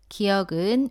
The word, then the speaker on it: 기역: 알아볼게요 자음 첫 번째 첫 번째 자음 기억입니다 기억은 왼쪽에서 오른쪽으로 쓰다가 아래로 내렸습니다 기억은 터에 뒷부분을 입천장 뒤쪽에 붙였다가 떼면서 발음합니다 몸 알을 붙여서 가 라고 발음합니다 따라해보세요